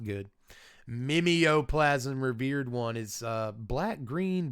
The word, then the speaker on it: Mimeoplasm: 2 mana to have Mimeoplasm become a copy of target creature card exiled with it.